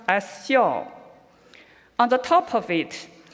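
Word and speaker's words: 孝: Let's take a look at the Chinese character for filial piety, pronounced as xiao.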